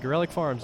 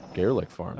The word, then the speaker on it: Gorelick Farms: Gorelick Farms, yes, that is how you pronounce it. Really? I didn't know that. What'd you think it was? Said Garlic Farms.